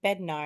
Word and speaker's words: Betar: I was saying, "How do you say your last name again?" He's like, "Betar." And I was like, "That's what I thought."